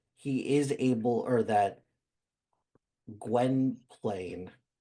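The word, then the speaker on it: Gwynplaine: his kindness that he is able or that Gwen Plain, right? That's how you pronounce it. Gwenplane.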